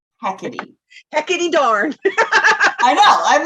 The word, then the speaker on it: Hecate: you know super duper close according to google heckety hecate that's how it's pronounced hecate heckity darn i know i'm like that doesn't sound